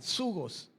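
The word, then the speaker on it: ζυγός: Pero Jesús también pronunció la palabra yugo, en el griego zugos, con Z, zugos.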